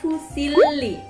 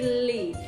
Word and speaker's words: fusilli: the differences between each pasta, and how to pronounce it, okay? So let gets started, the first one is This one is called Fusilli This one is Fusilli, i hope you can see this Pasta, i